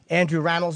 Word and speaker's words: Rannells: And in the studio, it's Andrew Rannells, is how you say it?